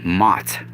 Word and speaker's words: Mot: not the mott from egyptian m-m-a-t it's m-o-t mott it's one of the children of el and